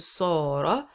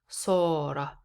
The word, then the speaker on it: صار: When it comes to صار, indicate so, not sa. صار. So let's read together. اصفر, الجملة الأولى. اصفر, صار أصفر اللون.